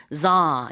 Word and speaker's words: tsar: 그래서 우리가 차르라고 하는 이 황제라는 단어가 영어로는 tsar 이렇게 발음을 하고요.